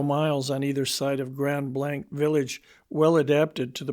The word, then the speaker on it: Grand Blanc: Nearest were the remains of an Indian village called the Grand Blas, pronounced Grand Blanc. Judge Sprag pronounces the country lying for an extent of several miles on either side of Grand Blank Village, well adapted to the purpose of settlement and cultivation.